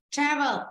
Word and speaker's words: travel: Ở đây nhá, mặc dù nó là một động từ, nhưng từ này là đặc biệt nên trong âm rồi âm nghiệp thì nhá, travel, okay.